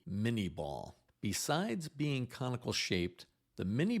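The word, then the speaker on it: Minié ball: The bullet was named after him, but the pronunciation was changed in English, and Americans referred to it as the mini ball.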